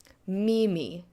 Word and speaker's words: mimi: Mimi, the word for I, emphasis goes on the second to last syllable, happens to also be the first syllable.